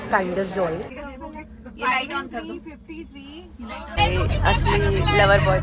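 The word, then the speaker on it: Kinder Joy: बाय द वे अगर किसी को लगता है किंडर जॉय है, नो, it's known as, it's pronounced as काइंडर जॉय।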